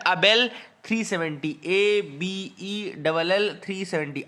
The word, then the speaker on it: Abell: तीसरी जो न्यूज आपको लिखनी है वो है अबेल 370, ABELL 370। आबेल मत याद रखना इसको, अबेल 370 याद रखिएगा, ठीक है ना।